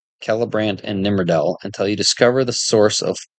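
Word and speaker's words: Celebrant: nimel by the way C and Elvis is pronounced K like that kellbran and nimel until you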